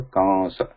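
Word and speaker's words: कंस: Kamsa. So totally in writing we can write it like this, Devanagari, and then, but pronunciation is a kamasa.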